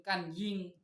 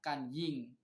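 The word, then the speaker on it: gan ying: Itu yang disebut Cusen Ganying, Cusen Kanying, nah, gitu kan bacanya Kanying, G itu dibaca K.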